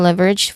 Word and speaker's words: leverage: information leverage pronunciation wise leverage the first syllable is the is the stressed part love that's the stressed part leverage and then the second syllable there's awah sound here we already familiar I've mentioned it many times already on this session. So the final syllable has a soft J sound.